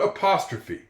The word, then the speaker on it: apostrophe: And there's even a time to have an e at the end of a word that makes a sound even though there is other vowels in that word. And one example of that is the word apostrophe.